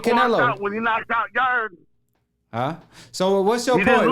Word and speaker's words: Yarde: Yarde ain't no sissy. Who? Yarde. Yarde. Yeah, you ain't even say his name right, fam. It's Yard, but it's okay.